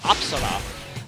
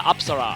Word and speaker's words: Apsara: I've actually recently been in a country that had Hindu temples, so I now know the correct pronunciation of this persona's name is Apsara. Yeah, Apsara, I think it is, yeah.